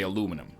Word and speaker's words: aluminum: It offends me, yeah, because I used to think that, I mean, in North America we say aluminum, okay?